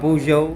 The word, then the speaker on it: Peugeot: Pinapakilala ko sa inyo ang Pujo DJO 150. Ayan na. Sa mga mahilig mamuna ng pronunciation, ni-research po natin ang tamang pronunciation po nito. Nakita nga po natin sa Google, Puo ang kanyang pronunciation.